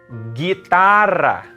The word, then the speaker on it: guitarra: Guitarra. It's not guitarra, even though there's a U there. There's no diaresis. So it's only guitarra.